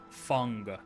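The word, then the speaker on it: Feng: You have to pronounce it like a U. One concern right now. Fung.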